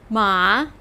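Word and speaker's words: 马: few characters that have to do with transportation ma pronounce with me ma this means horse and it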